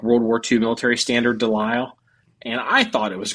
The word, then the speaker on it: Lisle: It's Lisle, yeah. And I've been looking at this thing for about a week or so, and it's a non-standard, like World War II military standard Lisle.